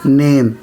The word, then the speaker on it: name: NAME, नेम, इसको नहीं पढ़ना है। BAKE, बेक, ई साइलेंट रहता है।